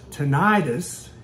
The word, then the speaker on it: tinnitus: if you suffer from tenius then you didn't just enjoy that sound I'm Dr Ken Barry and in this video we're going to be talking about tenius or pronounced tentis in the South what causes it what